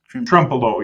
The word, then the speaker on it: Trempealeau: Now, I'm going to botch the pronunciation of the valley. Is it Trempealeau? Trempealeau, yep.